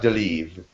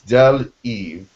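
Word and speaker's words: Del-Iv: Because it is two pronunciations. It's not Del Eve. It's Del Eve.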